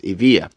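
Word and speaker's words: Evija: to was the Lotus Evia uh spelled e-v-i-j-a but pronounced Avia this is the Amira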